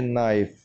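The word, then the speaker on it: knife: चाकू तो नाइफ में हम के को प्रोनाउंस नहीं करेंगे, इस वर्ड को हम पढ़ेंगे नाइफ। एन आई एफ ई, नाइफ, के को हम नहीं पढ़ेंगे।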